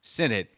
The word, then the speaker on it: Sinnott: We now know that Ben Sinnott, properly pronounced Sinnott, has been a questionable pick at times.